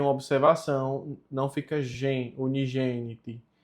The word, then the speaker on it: unigeniti: Unigeniti, aqui tem uma observação, não fica gen, unigeniti. É unigeniti, porque toda vez que o G vem com o E, ele fica a pronúncia J, então fica unigeniti, como eu coloquei aqui em cima.